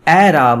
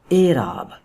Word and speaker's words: اعراب: بدلتے ہیں، دیکھیے جی یہ جو کسرہ ہے یہ ہے مجہول، جو کہ آواز دے گی اے کی. یہ بن گیا اعراب، اعراب. اور آپ کی اطلاع کا یہ عرض ہے یہی تلفظ اس لفظ کا ٹھیک ہے، یعنی کہ اعراب بجائے کہ ہم اعراب بولیں، یہ لفظ ہے اعراب، اعراب.